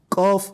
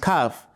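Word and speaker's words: ق: Similarly, we have qaf and kaf. So it shouldn't be pronounced as kaf or kef.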